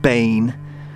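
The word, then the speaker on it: Baen: captain william c b-a-e-n i'm gonna pronounce that bane although that may not be just 100 right but anyway killed november 7th 1811.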